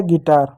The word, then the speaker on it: guitar: क्या है, यू है, यू के बाद ई या आई हो तो ही यू साइलेंट होगा, उसके पहले जी भी होना चाहिए, तो जी का ग लिख दिए, यू साइलेंट हो गया, आई का क्या छोटी की मात्रा लिख दिया, टी का ट लिख दिया, ए का आर लिख दिया, आर का रो लिख दिया, हो गया गिटार, ठीक, गिटार हो गया।